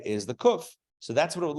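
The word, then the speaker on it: קוף: carrying a cane remember cuff makes the curse sound hence the name cuff uh uh well the letters don't necessarily have have names although koof in Hebrew yes correct yes yes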